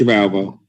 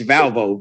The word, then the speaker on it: Valvo: A.M that's before judge of alvo is it I'm sorry I'm sure the chief judge of the 15th District Court would love that you cannot pronounce her name it's valvo v-a-l-v-o okay thank you I'll